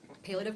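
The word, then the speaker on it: palliative: Before you continue, I have a few follow-ups on it's pronounced palative care.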